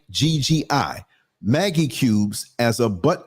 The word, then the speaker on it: Maggi: It is believed that some African women these days resort to the use of food seasoning, particularly, how do you pronounce it? Maggi cubes. It's Maggi.